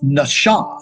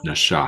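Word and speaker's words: נָשָׁא: looking for here is Nasha Nasha it's a sh sound it's not an S sound Nasha that's right there is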